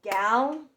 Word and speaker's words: gallon: First syllable gal. L, second syllable lawn.